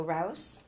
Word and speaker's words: Rouseville: I mean, it's spelled like mouse. So rouse. Rouse.